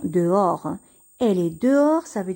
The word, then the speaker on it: dehors: chambre elle est dehors ici le h ne se prononcent pas le s ne se prononcent pas on va seulement prononcé des oeufs o'hare dehors on va dire dehors elle est dehors ça